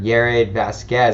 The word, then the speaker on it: Yared Vazquez: Yared Vazquez. Is that how you pronounce it?